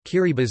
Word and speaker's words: Kiribati: Kiribati is the official pronunciation as T in the Gilbertese language makes an S sound.